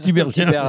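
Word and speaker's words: Tiberghien: Tibérien ou Tibergien? Chèque Tibérien.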